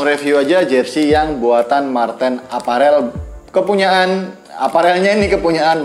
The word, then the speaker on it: Mar10: punggung 10 ajing Marten awalnya saya kira ini bacanya Mario ya Kemari your browser atau Super Mario yaitu nyata ini Marten apa Real dan ini